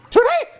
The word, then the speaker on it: Tootie: It is a 2-octave range, and I'm also obsessed that Tootie's name is in Tootie. She pronounces both T's.